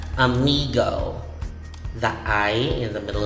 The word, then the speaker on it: amigo: amigo amigo amiga uh but this one is pronounced amigo the eye in the middle of the word is e and the o as the last letter is o so you say amigo amigo again still has the spanish origin a